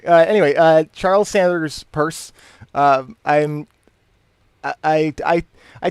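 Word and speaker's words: Peirce: that's like reading so i'm pretty sure it's rounds purse because that's how my professor pronounced it but it looks like pierce perhaps anyway i'm gonna sound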